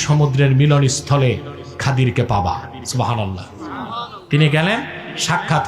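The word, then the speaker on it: خضر: উচ্চারণটা কি? খাদির, বিফাতহিল খা ওয়া কাসরিদ দাদ, খাদির। আমাদের দেশের লোক বলে কি খিজির, এটা ভুল উচ্চারণ, শুদ্ধ উচ্চারণ কি? খাদির।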